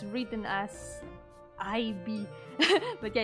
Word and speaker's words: Ib: Oh, I think it's if you mean Ib, I think it's written as IB. But yeah, it's pronounced like Ib.